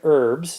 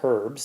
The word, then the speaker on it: herbs: to plant four different herbs that's how you say that word it's not herbs the H is silent four different herbs in